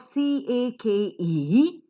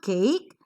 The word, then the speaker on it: cake: c a k e the first sound of the word is K and it should be accented according to the rule of aspiration yes or no yes so it is not cake it is cake yes a slight her sound is to be heard but look at the